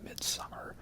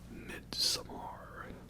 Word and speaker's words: Midsommar: And yes, that brings us now to Midsommar, because it's just Midsommar, but because it's spelled weird, I have to say it like, oh, Midsommar, all fancy like that, right?